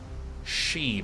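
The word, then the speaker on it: Sidhe: the best love me she breath by the way s-i-d-h-e is pronounced she not see the hair which is what I initially thought all right sweet now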